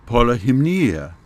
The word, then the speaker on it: Polyhymnia: should warn you that I'm trying to use the original Greek pronunciation, and most of the time you will hear the names of the Muses pronounced in an Americanized or anglicized version for the English. So the way you will hear them pronounced elsewhere might sound different from the way I'm saying them here.